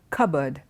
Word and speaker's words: cupboard: oh the sounds not cardboard it is a cupboard cupboard okay the next word is H o